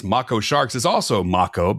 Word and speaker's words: mako: By the way, the correct way to pronounce Macco Sharks is also Macco because the word is Polynesian, which is similar to Japanese.